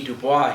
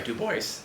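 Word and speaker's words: Du Bois: want to quote w.e.b dubois here again or i'm sorry dubois to pronounce it the way he would um there before the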